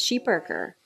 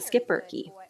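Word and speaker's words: schipperke: perker originating in Belgium the correct pronunciation of their breed is sheep perker but North Americans typically refer to them as the skip bery they are a part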